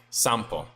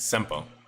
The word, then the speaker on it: simple: actually a soft uhuh I heard sample sample so I kept saying sample and people got mad and said no no no it's simple simple my bad uh my